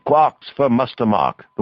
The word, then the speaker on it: quark: The word quark is supposed to be pronounced like quart, but with a K at the end instead of a T. It is usually pronounced to rhyme with lark.